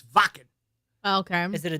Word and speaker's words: Wacken: and it's you know people say, "Oh, it's whacking." No, it's not called Wacken. It's Vakan.